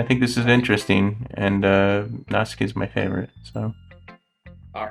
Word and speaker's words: Natsuki: I'm a little disappointed we didn't get to Nasuke. Nasuki. What? How do you say it? Natsuki.